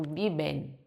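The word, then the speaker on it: viven: vivem no espanhol. Não, eu tenho que pronunciar esse n final. Eu digo biben.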